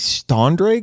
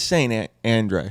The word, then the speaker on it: St Andre: I was like, you see these Standray guys? And it was a literal mispronunciation. And Jake was like, it's St. Andre.